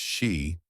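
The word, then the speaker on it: sídhe: After being defeated, the Touatha were said to have retreated underground into the Sida, pronounced she, hills or mounds believed to be entrances to the other world.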